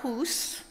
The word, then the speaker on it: Hus: But a priest named Jan Hus, rhymes with goose, that's how you remember these things, and it actually means goose in Czech.